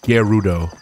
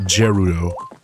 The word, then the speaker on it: Gerudo: Like, I think it's pronounced with a hard G, not a soft G. Like, you know, Gerudo. Like, not Gerudo.